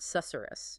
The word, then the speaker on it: susurrus: You almost have to whisper to say it correctly. That is intentional. It's an onomatopoeic word.